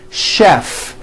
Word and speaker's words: chef: more difficult there are a couple of words that are spelled with ch and are also pronounced with the sh sound words like chef and the city of